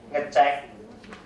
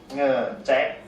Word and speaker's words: ngecek: So we pronounce as mengupload, mengupload, and then this one we pronounce as ngecek, ngecek, and then this will be pronounced as ngerun.